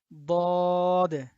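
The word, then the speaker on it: ضاد: আচ্ছা, তারপরে এটার উচ্চারণ হবে বদ। বদ। হ্যাঁ, তো এটার উচ্চারণ আমরা জিহ্বার গোড়া থেকে করব। বদ, একটু শক্ত করে।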